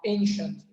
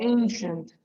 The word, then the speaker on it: ancient: So many times when you have like when you have like CI, it's most of the time pronounced as sh. Okay, like this one, ancient. Okay. So ancient, ancient.